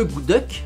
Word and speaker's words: akutaq: spécial et ce délice glacé que l'on nomme à coutach et qui se prononce ce good luck est un mot yupeek qui signifie quelque chose